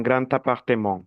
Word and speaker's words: grand appartement: Cuando una palabra termina en dara comienza por vocal, esta se pronuncia como una t.